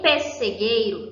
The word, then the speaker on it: pessegueiro: Os dois S equivalem ao som de um, certo? O I, aqui eu pronuncio também somente um. Entre o U e o E, eu pronuncio somente uma vogal. Elas equivalem a um fonema, ou seja, a um som.